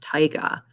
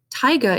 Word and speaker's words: taiga: also known as tyga looks like tega it's pronounced taiga taiga is characterized by land dominated by large conifers